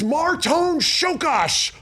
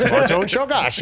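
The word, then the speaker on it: Márton Csókás: "It's Marton Shokash. Learn how to pronounce it." And I was like, I will learn how to pronounce this. Marton Shokash.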